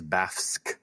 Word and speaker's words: Bafsk: I am saying it like that because it's spelled Bafsk. Don't know what else you can do with that. No, we don't usually see FSK together in English.